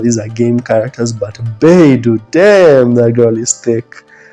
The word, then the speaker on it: Beidou: I should mention, by the way, that Beidou, that's how you say her name, Captain Beidou, that lady, whoa, that lady is hot.